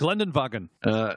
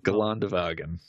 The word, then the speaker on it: Geländewagen: Geländewagen. No, Geländewagen.